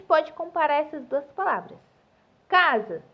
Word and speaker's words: casa: Casa se escreve com S e ele tem som de Z.